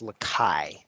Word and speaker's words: Lacaille: From past topics, I believe it's pronounced Lakai, and the L's are silent.